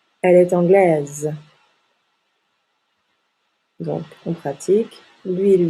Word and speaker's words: anglaise: masculin et le féminin on ajoute un e au féminin et on prononce la dernière consonne donc il est anglais le s est une lettre muette il est anglais en anglais elle est anglaise